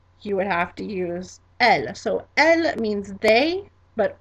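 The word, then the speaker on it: elles: And our second way to say it is elle, elle, and that is spelled E-D-L-E-S.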